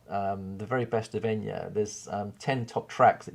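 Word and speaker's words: Eithne: spelt different hers is um e-i-t-h-n-e but it's pronounced enya okay now i love that name because when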